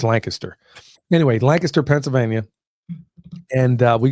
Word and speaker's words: Lancaster: Yeah, other people will pronounce it Lancaster, but it's Lancaster.